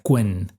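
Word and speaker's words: Qwen: que se llama en en inglés se pronuncia quen, eh, que son muy avanzados, ¿no?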